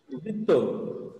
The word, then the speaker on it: দ্বিত্ব: যেমন মনে করো দ্বিত্ব, কি বললাম? দ্বিত্ব। দ্বিত্ব। হ্যাঁ, তাহলে দেখো শব্দের প্রথমে কিন্তু বফলা আছে, কিন্তু সেই বফলার উচ্চারণ কিন্তু আমাদের হয় নাই।